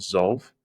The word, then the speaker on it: Zolve: there's this startup called Zolve in the US spell it please sorry what's the spelling so z o l v e so like solve but within zed okay okay I got